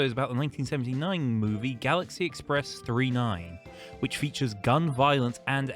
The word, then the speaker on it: Galaxy Express 999: We just watched Galaxy Express 39 or Galaxy Express 999. It's not 999 in the movie, but like it's written 99. Okay, fine, 39. That's how it's said.